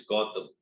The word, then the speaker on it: Goutam: whatever customer is saying say my name is gotham the spelling is g-o-u-t-a they find out say